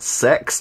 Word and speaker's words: CeX: every Monday is cex which is actually pronounced sex and that's their official